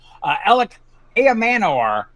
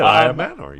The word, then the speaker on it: Elic Ayomanor: Elic Ayomanor. Can I say it right? You did. Ayomanor. You did it. Ayomanor.